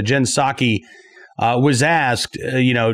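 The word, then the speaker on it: Psaki: jin pasar jin saki i always want to pronounce the p in her name but uh jen saki uh was asked you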